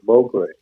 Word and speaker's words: Mongrain: My middle name is spelled M O N G R A I N but it's pronounced not mongrain. Some oages one branch does that. Uh but my side of the family calls it mrain.